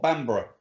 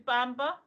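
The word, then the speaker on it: Bamburgh: there um in Northumberland well bambra yeah remember yeah but I thought I genuinely thought it was Bamba what you shouldn't think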